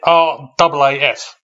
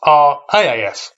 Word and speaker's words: RAAF: Firstly, RAAF, not RAAF. I am kind of surprised I've never actually come across the pronunciation before, but hey, thanks for the correction, because it is much easier to say that way.